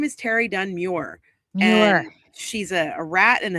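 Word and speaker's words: Meurer: pronounce Terry Dunn-Muir's name, it's Muir. Pissing me off. It's Muir. It's Terry Dunn-Muir. I heard that from the horse's mouth. She told me herself. Well-known. That's how you pronounce her name. She's been doing documentaries forever. She's like one of the creators of Unsolved Mysteries. Her name is not Mauer.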